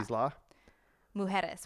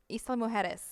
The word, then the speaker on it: Isla Mujeres: how to pronounce it. Isla, which is Isla. Isla. Isla, right? Isla, yeah. Isla. Mujeres, which means island.